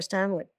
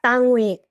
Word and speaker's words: Stanwyck: She's the one that turned me on to Barbara Stanwyck, but she would call her Barbara Stanwyck. She never pronounced the K at the end.